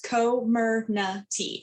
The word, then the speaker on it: Comirnaty: will now be called, I'm going to say it wrong, Comirnaty. Comirnaty? I wrote it down. So it's, yes, Comirnaty. Comirnaty.